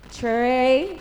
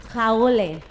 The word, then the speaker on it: Traoré: Delphine Traoré? Did I say it right? I didn't. Please correct me. What is it? Traoré.